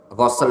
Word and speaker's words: ghusl: Bacanya ghusl. Ghusl itu artinya membasuh. Kalau ghuslu itu artinya mandi.